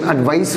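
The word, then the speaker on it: advice: इसका सही pronunciation एडवाइस होता है, और ये नाउन है। कई बच्चे कंफ्यूज होते हैं, जब भी सी आ जाए वो नाउन होता है, एस आ जाए तो वो वर्ब कहलाती है।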